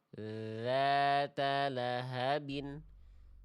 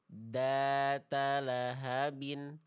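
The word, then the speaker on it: ذَاتَ لَهَبٍ: Jangan digigit kuat-kuat, jangan mampet. dza la dzata lahabin jangan terlalu digigit data lahabin dat lahabin ah suaranya akan mampet teman-teman sekalian ya ok jadi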